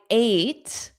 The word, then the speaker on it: ate: I ate Okay, here I ate. The past simple of eat is pronounced as the number eight ate. A ate. It's that long vowel sound ate.